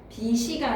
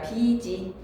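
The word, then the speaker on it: 빚이: 비시가 아니라 비지 밭칠이 아니라 밭을 다기가 아니라 달기 그냥 의문의 변동에서 잠근 다수나 하지 말고 연음하시면 됩니다.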